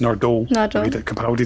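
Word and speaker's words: Nardole: and Nordole in the got to be pronounced Nord Capi does it. The emphasis is on the second syllable.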